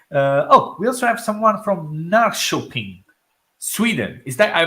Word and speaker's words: Norrköping: We also have someone from Norrköping, Sweden. Is that I pronounced it Oh, correct?